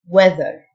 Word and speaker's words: weather: mail voice mail الطقس weather th تنطق ذ weather expressions and prepositions على